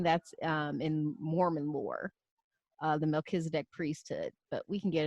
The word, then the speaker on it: Melchizedek: And Melchizedek, king of Salem, brought forth bread and wine, and he was the priest of the Most High God.